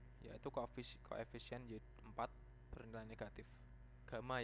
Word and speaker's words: Gamma: Gamma ya ini bacanya, bukan Y.